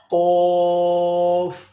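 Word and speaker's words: قاف: Next Qaf. Kaf. There are two qaf. Okay, number one, first one is with two dots. This qaf is heavy sound like qaf. Please take care, okay, in pronunciation.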